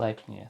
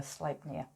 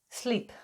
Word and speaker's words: Sleipnir: Sleipnir. Thanks, Nicole. Oh, thanks, Nicole. Yeah, it didn't give me a pronunciation. So Sleipnir. There you go. You got pretty close. Sleep, I said.